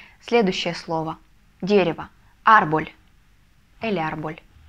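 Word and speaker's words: árbol: и следующее слово дерево арбуль или арбуль ударение мы ставим ставим ударение на первый слог Потому что если не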